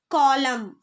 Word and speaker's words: column: Then the letter N is silent when it comes after M at the end of a word. For example, column.